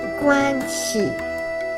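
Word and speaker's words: 关系: Le guanxi, la prononciation de cette notion est guanxi.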